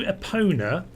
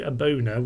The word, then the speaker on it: Epona: Build the shrine to Epona, as opposed to Abona, which is a slight mispronunciation, it should be said.